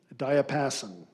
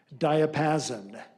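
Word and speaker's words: diapason: Alternate pronunciation. Diapassen.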